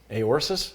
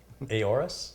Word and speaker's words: Aorus: Aorsis? How do you pronounce it? What? How do you pronounce it? Aorus? Aorus. Z390. You're an Aorus.